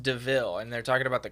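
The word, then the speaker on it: de Vil: part where the guy's like oh it's it's devil and his friend's like oh it's pronounced deville and they're talking about the car deville is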